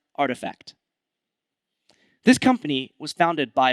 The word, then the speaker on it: RTFKT: It's pronounced artifact.